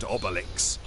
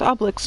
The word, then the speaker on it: Obelix: I guess I've been pronouncing it wrong. It's Obelix, not Obelix.